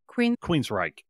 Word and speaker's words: Queensrÿche: Queensrÿche. Okay, I've never heard of them before. Thank you for pronouncing it.